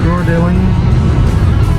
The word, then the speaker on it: Coeur d'Alene: I tried to listen to a video to listen to other people pronounce it. Coeur d'Alene.